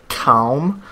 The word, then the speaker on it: calm: Calm. Like, it's interesting how you pronounce the ALM.